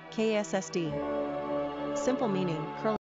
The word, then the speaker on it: Cassidy: Number of syllables, 3. Ranking popularity, 250. Pronunciation, KSSD.